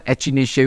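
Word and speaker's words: Echinacea: सकते, और ये है एक्टिनेशिया अंगस्टिफोलिया। एक्टिनेशिया, इसको ना एचिनेशिया भी प्रोनाउंस करते हैं कई लोग, चलेगा।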